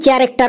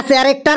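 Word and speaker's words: character: কোন কোশ্চেনটা right two চ্যারেক্টার of monkey sir চেয়ারেক্টর মানে কি বানানটা বল সি এইচ এ আর এ সি টি ই আর ওটা ক্যারেক্টার হবে না রে ওটা ক্যারেক্টার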